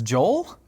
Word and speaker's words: Joel: I've been calling him Joe Male the whole time. It's Joel.